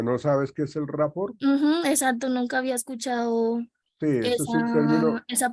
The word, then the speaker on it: rapport: tú dijiste que que es el rapot así se pronuncia está bien está bien dicho como tú lo estás comentando me quedó la dudita en cuanto no sabes que es el rapport Exacto nunca había escuchado